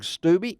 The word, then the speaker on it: Stubbe: there, and that is Sergeant First Class Greg Stubbe. Is that am I pronouncing your last name right, Greg?